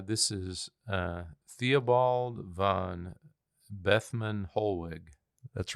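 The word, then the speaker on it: Bethmann Hollweg: his name uh this is uh Theobald van bethman holg that's right bethman holwick so so he served under Wilhelm um his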